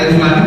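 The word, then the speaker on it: الم: Dibacanya itu Alama. Pernah dengar ya? Enggak jelas. Ini bukan Quran asli. Saya tersenyum. Ya, istilahnya bahagia bahagia bukan cuma udah. Karena segini Alama. Apa tadi? Alif, lam, mim.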